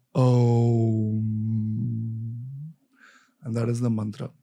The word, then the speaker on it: Om: And then on top, the Chandra and Bindu is So the correct way to pronounce Om is Om.